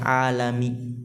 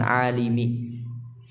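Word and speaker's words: العالَمِ: Ya, lihat itu bacanya alami, bukan alimi.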